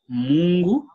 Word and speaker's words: Mungu: the first word, God, which in Swahili is Mungu, Mungu, Mungu. Okay. Mungu. Can you be able to pronounce that?